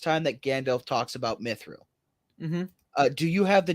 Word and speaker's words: mithril: and and like uh this is for r-i-l Real it's like Brilliance in Israel silmaril also an enderil the sword of Aragorn and in mithril and quote in parentheses